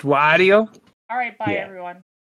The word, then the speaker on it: Wario: This is pronounced Wario.